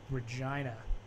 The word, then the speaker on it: Regina: And Mark, get this: there's a town called Regina, and they have a hockey team named the Pats. So Regina Pats. Regina Pats. Interesting. The city that rhymes with fun.